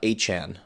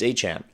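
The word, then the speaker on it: Etienne: I gotta get used to saying Han because it's spelled like ETN and for years people said ETN, but he's went to his introductory conference with the Saints and said it's Achan.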